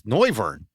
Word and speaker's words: Noivern: And I know how to pronounce his name now with Bird's help. It's Noivern.